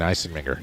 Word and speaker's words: Eisenmenger: to watch is Dane Eisenmenger. That was a beautiful ball. And I worked hard on the pronunciation because when it's a hard G, I tend to hang on to him too long.